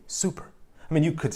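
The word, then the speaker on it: супер: Of course, the R pronunciation is a little bit different. Perhaps you heard that. In Serbian, it's super. And English, it's super with a hard R, the classic English R.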